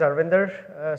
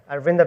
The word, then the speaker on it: Arvinder: everyone my name is arvinder so what do you see name over there it's quite a mouthful very hard to pronounce and remember arvinda will do so 15 minutes I